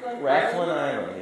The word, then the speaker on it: Rathlin: Is it pronounced Rathlin Island? Yes.